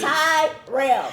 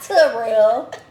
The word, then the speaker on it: Terrell: Cuz I saw you was like my name is Tyrell. Tyrell. Not Treel.